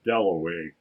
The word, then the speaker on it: Dalloway: brought him over and clarissa got his name wrong she introduced him to everybody as wickham at last he said my name is delaway that was his first